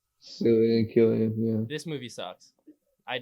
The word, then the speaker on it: Cillian: I think that's how you pronounce his name. Killian.